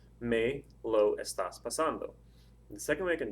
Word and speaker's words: estando: you say the word the stresses over that second a so estando would be the word and since the Ando